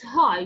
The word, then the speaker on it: high: Bravo, it's hi. So as you see, G and H here are silent, right?